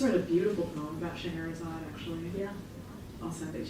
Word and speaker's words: Scheherazade: And then we have 2 drag queens, Miss Collins, and we just looked up how to pronounce this, but it's Scheherazade.